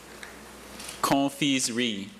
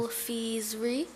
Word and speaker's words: confiserie: She's not getting that slight N sound in the first syllable that Dr. Bailey wants to make sure she gets.